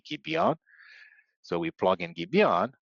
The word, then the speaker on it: Gibeon: So we plug in Gibeon, which rhymes with the valley of Ajalon, Gibeon, Ajalon.